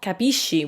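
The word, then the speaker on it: capisci: see capisco but then the pronunciation changes that's why it's kapishi all of a sudden because sc i make she where's sco made so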